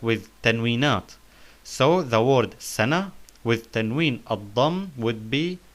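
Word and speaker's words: سنة: So we notice we say ha, sana, ma'ida, like the words wajh, wajh and intibah. The last letter in wajh and intibah is ha. So we pronounced the ta marbuta in sana and ma'ida like ha, like in wajh and intibah.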